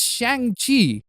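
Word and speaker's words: Shang-Chi: club but even lamer you don't say shanghi as shanxi i said it's shang chi i'm an asian i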